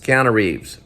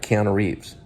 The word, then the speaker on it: Keanu Reeves: say it just say his name keanu reeves counter reeves okay i hear myself saying it right keanu reeves now you said it right okay i said